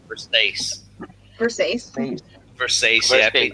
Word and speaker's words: Versace: I mean, Versace is how some people pronounce it, like dumbasses, but it's pronounced Versace.